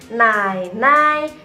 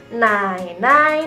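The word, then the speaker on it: 奶奶: Yang pertama dari sisi papa, kita panggilnya nai nai, nenek dari sisi papa. Nai nai, nenek dari sisi papa. Mamanya papa kita bilangnya nai nai. Nai nai.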